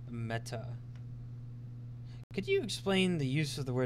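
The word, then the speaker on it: μετά: Meta is actually a Greek word. It means the after or the next. It literally in Greek is pronounced meta, except it's written something like this.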